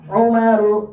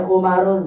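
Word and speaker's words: عُمَرُ: Umaru yuk. Umaru zufaru zufaru hubu. Hubalu zuhalu. Zuhalu asal lihat tidak boleh. Umarun zuharun enggak boleh. Kenapa enggak ditanwinkan? Apa sebabnya?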